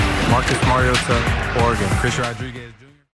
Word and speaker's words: Mariota: We on NBC's telecast of the game heard play-by-play announcer Mike Trico and analyst Chris Collinssworth consistently say Marcus Mariota with the T pronounced like a T.